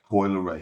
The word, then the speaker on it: Coi Leray: Everybody, online, they be saying that you and your daughter, let me say it right. Coi Leray? Coi Leray, yeah.